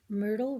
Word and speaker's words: Myrtle: life uh-oh Chapter six Myrtle rhymes with turtle Simon put the bucket